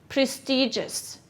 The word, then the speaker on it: prestigious: g o u s where is the stress prestigious it's on the first syllable what part of speech